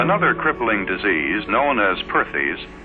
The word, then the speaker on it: Perthes: crippling disease known as Perthes pronounced pares was the demoralizing ailment